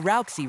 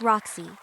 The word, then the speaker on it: Roxy: Well, Rousey, results may vary from dog to dog. It's Roxy. Two syllables.